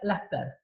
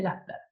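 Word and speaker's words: Laspeyres: Uno de ellos es el índice de, que se llama acá Las Peires y se pronuncia Lasper. El índice de Lasper.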